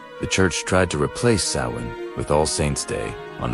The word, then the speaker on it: Samhain: Long before trick-or-treating and superhero costumes, there was an ancient Celtic festival called pronounced Samhain.